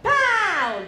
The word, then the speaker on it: Paolo: 怕 , 然后 Paolo, 注意那个 , Paolo. Paolo. 随便 C, Paolo. Paolo. 嗯 , 后面要清楚 , 不能说 Paolo.